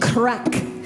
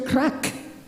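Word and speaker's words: craic: we're having some good crack okay crack is different in Ireland than it is here in the United States it's it's spelled c-r-a-i-c and it means good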